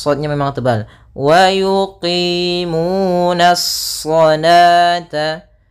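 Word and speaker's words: صلاة: Kemudian di sini bukan dibaca salawata, tidak boleh dibaca salawata, karena di sini ini penulisan rasamnya. Ketika penulisan rasam shalah itu seperti ini. Nah, waw di sini dianggap tidak ada, waw tidak ada, dan alifnya yang saya dianggap yaitu salata.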